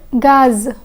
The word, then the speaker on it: gaz: Riz and gaz. The Z in riz is silent, but the Z in gaz is pronounced.